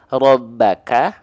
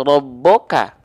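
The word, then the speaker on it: رَبَّكَ: tebal gitu ya Nah sekarang huruf ba ini dibacanya rbaka atau robboka dengan vokal A rbaka atau rboka jelaslah Bang kalau vokal A itu enggak mungkin dibaca dengan vokal O saya juga enggak pernah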